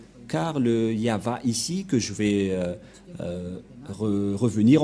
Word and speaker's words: Yahvah: Mais la vraie lecture de ce terme, c'est Yahva.